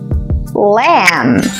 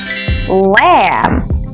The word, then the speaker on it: lamb: baby sheep is a lamb lamb Focus the B is silent sh great okay what